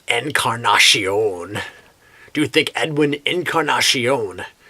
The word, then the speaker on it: Encarnacion: do you think Edwin Incarnation is he named after a flower oh oh I'm sorry I said it wrong uh Encarnacion do you think Edwin